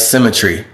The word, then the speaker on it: CymaTree: the screen or something whatever c-y-m-a-t-r-e-e all right symmetry so the podcast is called synchronicity all right but it's spelled cy and then you'll find it when